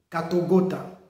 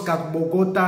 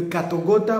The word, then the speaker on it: Katogota: Parce que j'ai entendu beaucoup de gens parler de Katogota. Katogota, Katogota. Et il y a même ceux qui prononcent Katbogota, ainsi de suite.